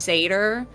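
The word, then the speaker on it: seiðr: And they're also known for their specific type of magic, which is, I think is pronounced Satyr, which is basically seeing and being able to manipulate the future.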